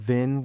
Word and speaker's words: vin: You see, in Old Norse, the word Vin with a short I means pasture or meadow.